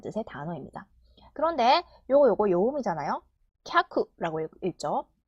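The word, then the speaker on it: きゃく: 캬쿠라고 읽죠.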